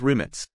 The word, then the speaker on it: Rimac: you might be wondering why I'm pronouncing the word remac as roommates it's because this all-electric sports car is designed and manufactured by the Croatian automotive manufacturer limits automobile that's how it is pronounced in their native tongue as always let's start